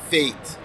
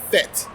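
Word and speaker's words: fête: pet peeve for me they have been announced uh pronouncing the party fate now if you are from Jamaica you're from Trinidad it's a fit so I'm looking forward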